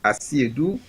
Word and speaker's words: Asiedu: So the pronunciation is Asiedu, the host, and Seidu, the acting or caretaker host for Mr. William Asiedu.